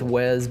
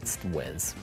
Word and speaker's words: Huez: I'm gonna go with Huez because it's named after the Alpe d'Huez, so I'm just going to say it's Huez.